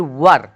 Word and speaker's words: were: दीजिए वो, या फिर वर, क्या पढ़ते हैं इसे, वर। इसे बहुत लोग वेयर पढ़ लेते हैं, जो कि प्रोनाउंसिएशन में रॉन्ग हो जाता है। इसे पढ़ा जाता है वो या फिर वर।